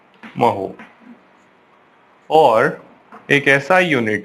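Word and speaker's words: mho: या फिर इसको क्या कर सकते हैं, और इस स्पेलिंग को उल्टा कर देते हैं, महो।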